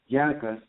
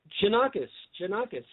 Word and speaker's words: Janakis: used to be Tim Janikos. Janikos or Janikos? Janakis. Oh, Janakis.